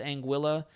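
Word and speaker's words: Anguilla: Latin Ang angu angua but it's British overseas territory it's pronounced anguila angua angua I would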